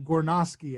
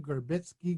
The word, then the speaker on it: Gornoski: as a as a I have a Polish last name gornoski and I get that pronounced G skitzki goritzki goritzki goritzki I'm like I don't